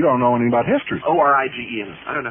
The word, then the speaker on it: Origen: Tacitus did not have a reference to any Christos before Oregon, and you know it.